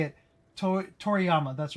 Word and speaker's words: Toriyama: To Toriyama. That's right. I was going to say Toriyama, but I'm like that doesn't sound right.